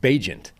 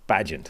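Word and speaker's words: Bagent: for the Chicago Bears his name is actually pronounced bajent not pageant ah Tyson's agent is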